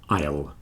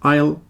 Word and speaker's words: isle: is and Island but the key is don't pronounce the S Isle island island it's